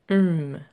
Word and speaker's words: OM: Donc, si tu veux commencer par la voix, tu peux tout simplement utiliser le son OM, tu sais, le OM en méditation, qui se prononce hum.